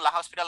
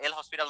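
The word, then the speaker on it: L'Hôpital: ওকে, এখন আমি এটাকে লপিটালই বলবো, কারণ I know that it's called লপিটাল। যে তোমরা যদি এখন লা হসপিটাল নামে চিনো এটাকে, অথবা এল হসপিটাল নামে চিনো, তোমরা বলতে পারো, বাট এনার প্রোনাউন্সিয়েশনটা হচ্ছে লপিটাল। ঠিক আছে, আচ্ছা এটা কখন কাজ করবে?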